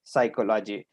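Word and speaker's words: psychology: जब हम लिखते हैं तो PSYCHOGY अर्थात साइकोलॉजी हुआ और इसमें जब उच्चारण करते हैं तो पी इसके अंतर्गत साइलेंट हो जाता है और लिखते हैं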